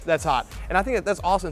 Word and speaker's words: Sh' That's Hot: That's hot. That's hot.